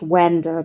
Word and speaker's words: wander: It's spelt wander, but it's pronounced wa.